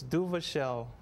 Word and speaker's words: Duvauchelle: your last name Joshua it's duvell and by the way it's French and don't ask me to speak French that's all right du shell sounds like seashells like my pretty